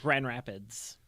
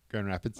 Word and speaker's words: Grand Rapids: It's just like Grand Rapids. There's no D. Grand Rapids.